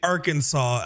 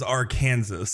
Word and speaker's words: Arkansas: It looks like our Kansas.